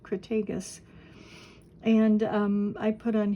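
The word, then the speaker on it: Crataegus: Hawthorne genus Crag cretus I think that's a hard G cragus and um I put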